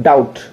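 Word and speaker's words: doubt: अच्छे से जानते हैं डाउट क्या पढ़ते हैं अपन डाउट ना की डाउट डाउट दी ओ यू बी टी डाउट ठीक है डोर डेटर ना की doctor I think clear अबाउट मजेदार रूल है तो आप देख का रहे हैं बी के बाद में एम बी के पहले एम आए और बी जो है टी के पहले आए ऐसी स्थिति में बी साइलेंट होता है ठीक है अगले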